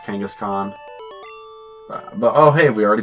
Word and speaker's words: Kangaskhan: we're going against Giovanni because he's got that Kangas cam kangaskhan I thought that oh it's pronounced kangaskhan but oh hey we already beat them because